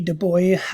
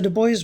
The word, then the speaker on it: Du Bois: so on so w.e.b du bois uh and it's has it pronounced the boy not i mean the boys the boys not the dubois as it would be pronounced in in french he went by the